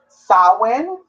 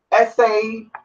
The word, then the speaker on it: Samhain: Anyway, so Samhain is spelled Samhain, but it's pronounced Samhain. Samhain. Samhain. There's 3 different ways to pronounce it, but it is Irish pronunciation.